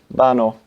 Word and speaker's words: vano: Okay, but in Spanish that word will be pronounced vano, because Spanish has a characteristic of pronouncing a V as a B, as you will know in, you know, names like Valencia, spelt with a V.